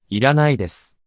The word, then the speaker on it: いらないです: Didn't you hear me say iranai desu? No, he heard my pitch accent. But this is the correct way to say it. いらないです。